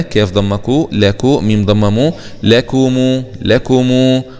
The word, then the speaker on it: لكم: ضمكو لكو ميم ضممو لكمو لكمو، خلي بالنا من ضمة الميم دي عشان الكثير لا ينتبه لضمة الميم، لكمو همزة وصل وسط